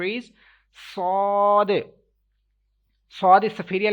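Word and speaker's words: ص: We will have to stretch equal to 3 seconds. We have to make echo end of this letter, as well as we will have to read with thicker voice. Sod. Okay, we will pronounce it sod.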